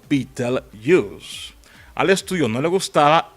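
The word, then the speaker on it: Betelgeuse: la constelación de orón pronunciada como Beatle Us al estudio no le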